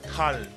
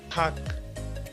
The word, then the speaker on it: 닭: Not thal, 닭. You should pronounce second on.